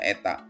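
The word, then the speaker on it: η: Sehingga gaya stok untuk bola ya yang jatuh adalah 6 PR V kali ini dibacanya eta.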